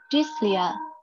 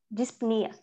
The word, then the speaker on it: dyspnea: This, it have SP, so disp. Disp. Disp, yeah. Mm-hmm. It's not just disp, but it have, okay. And then N-E-E-R, so dyspnea. Try. Dyspnea.